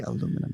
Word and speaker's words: aluminum: And for that reason, we still say aluminum, which is the original and one true name for the metal.